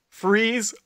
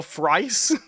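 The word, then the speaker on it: Fries: Gordon and Bullock about whether it's pronounced freeze or frice. and Bullock's like, no, I'm good with names. And then eventually they ask his wife, and she's like, it's Frice.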